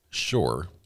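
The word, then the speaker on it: Shure: Shore, which is spelled S H U R E, which makes great great microphones.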